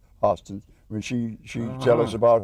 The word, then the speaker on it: Hairston: No, they were Hostons, but I grew up in Pennsylvania, where we said Hairston. the Yankees taught him wrong how to mispronounce it.